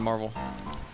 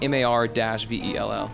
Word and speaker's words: Mar-Vell: His name is Mar-Vel, like Mar-Vell.